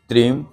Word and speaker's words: स्त्रीम: मंत्र है ओम ह्रीम त्रीम हुम फट। लेकिन जो त्रीम है उसको स्त्रीम की तरह लिखा जाता है। जहां भी आप ये मंत्र देखेंगे उसको त्रीम नहीं बोला जाता, ये उच्चारण की बात है।